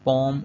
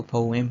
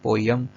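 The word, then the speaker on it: poem: American इसको पोम कहते हैं, पोम, और जो ब्रिटिशर्स हैं वो इसको पोएम कहते हैं, यानी और एम का डिफरेंस है। जबकि हम पाकिस्तानी प्रोनाउंसिएशन में कोई तीसरा ही बना लेते हैं, वो होता है पोयम। तो ये पोयम जो है प्रोनाउंसिएशन दुरुस्त नहीं है, या तो आप पोम कह लें अमेरिकन साउंड, या पोएम कह लें ब्रिटिश साउंड।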